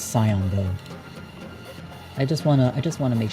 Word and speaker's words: scion: The C is silent, English is funny. Yeah, okay, I think it's Scion though.